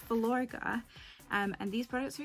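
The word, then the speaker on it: Filorga: name but it's um vilorga i've been calling it falagra it's velourga um and these products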